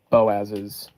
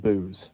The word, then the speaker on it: Boaz: his wife is also Boaz's wife. Uh, he also doesn't pronounce it Boaz. He pronounces it Booze. So, Ruth of Booze.